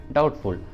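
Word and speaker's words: doubtful: अगला एग्जाम्पल देखिए डाउटफुल, डाउटफुल, इसमें रूट वर्ड है डाउट और इसमें टी है और टी के जस्ट पहले बी है तो बी का उच्चारण नहीं करेंगे, तो प्रोनाउंसिएशन होगा डाउटफुल, डाउटफुल।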